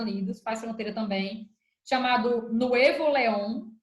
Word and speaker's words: Nuevo León: E nesse outro estado aí, também próximo aos Estados Unidos, faz fronteira também, chamado Nuevo León, ou Nuevo León, né? Que pronuncia em espanhol.